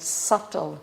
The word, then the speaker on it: subtle: This B in the word subtle is silent. No, we don't pronounce the B.